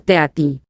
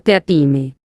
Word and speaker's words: Teatime: Señor Teatime. Se pronuncia Tea-time, señor. Dijo Teatime, con solamente un matiz de reproche. Todo el mundo lo dice mal, señor.